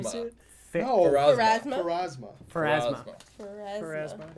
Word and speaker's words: Pharasma: used to was once used as for the priestess Pharamas, Pharasma, Farrah Fawcett. Pharasas. It's Farrah Fawcett. It's It's that poster where she's doing this thing in the red Phasma. swimsuit. No, Pharasma?